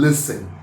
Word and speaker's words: listen: T is silent in listen.